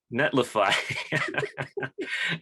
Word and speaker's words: Netlify: to the netlifey um is that how you pronounce it netlifey the the epo demos netlify um they're they're great modules this is cool